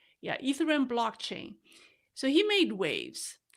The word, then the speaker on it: Ethereum: Ethereum? Yeah, Ethereum blockchain.